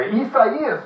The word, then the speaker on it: Isaias: Isaias is the way you pronounce that.